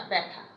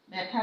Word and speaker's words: ব্যথা: ব্যথা ব্যথা, ব্যবসা ব্যবসা। তাহলে 1 নম্বর নিয়ম কি হচ্ছে? আদ্যবর্ণে জফলা যুক্ত হলে জফলা যুক্ত ব্যঞ্জনটি একারান্ত উচ্চারণ হবে।